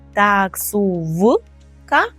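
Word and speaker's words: taksówka: скажемо таксувка таксувка таксувка зверніть увагу також що ми записуємо букву в так таксу в ка але вимовляємо цей звук як ф таксувка таксувка що ще маємо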